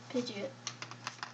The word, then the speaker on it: Pidgeot: Of Pidgeotto? Pidgeot? Nope, Pidgeot. That's how it said in the Pokemon Meowth, app.